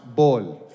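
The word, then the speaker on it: بول: Also, there's no P in Arabic, so my name is pronounced Bol.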